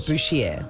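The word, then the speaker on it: Bouchier: very fancy butcher right we call it bushier because it's spelled b o u c h i e r and it looks like you should say butcher in another language perhaps it's not I think a butcher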